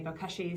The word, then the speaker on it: bokashi: then we explain that we are using a bokashi system, which is a little bit different. That's how you pronounce it.